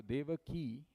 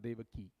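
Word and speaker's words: Devaki: vasaya second Dak Nanda mind you D ke that key is a long e it's not D ke so when you have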